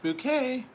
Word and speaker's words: Bucket: Bucket, it's pronounced bouquet.